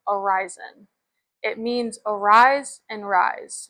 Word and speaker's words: Arizyn: So it is spelled a r i z y n and it's pronounced Aryzen.